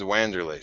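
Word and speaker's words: Wanderlei: Weroom's name any other way than the way it's spelled cuz I'm from America. How do you say Vanderlay Silva's name? It's Wandererlay Silva. Do you actually say Wandererlay?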